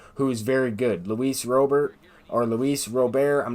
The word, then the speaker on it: Robert: Luis Robert, I'm not quite sure how you pronounce his name. I've heard announcers say Robert. I've heard people in baseball say Robert. So anyway, I believe it's Luis Robert.